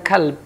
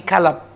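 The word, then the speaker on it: كَلَب: setia dengan Tuhannya tetapi Sebagian ulama termasuk beliau membacanya bukan kalp tetapi kalap sebagaimana seorang yang terkena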